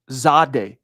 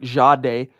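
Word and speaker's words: Jahdae: Inexplicably it's Zade Baron or it's more like jade. So the way I now think of it Zach to get it right is I go like this. I pretend that it's spelled Z- A D- A. I just pretend there's a Z there. And remember to kind of zade, not Zade, not a sharp Z. Jade day. Kind of like, but man, it's tough.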